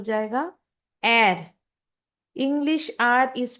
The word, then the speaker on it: Er: English का जो आर है वो जर्मन में हो जाएगा एर। English are is pronounced as एर इन जर्मन।